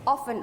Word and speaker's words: often: And this word, when you pronounce this word, O-F-T-E-N, it's not often, it's often. Okay, we'll just, the T will be silent.